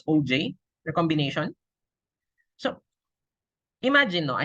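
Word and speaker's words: Auger: oh uh OG no this is pronounced as OJ the combination so imagine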